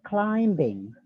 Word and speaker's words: climbing: And then climbing, climbing. B-nya itu harus sedikit silent. Climbing, climbing, not climbing. No, it's not Jowo ya. It's climbing.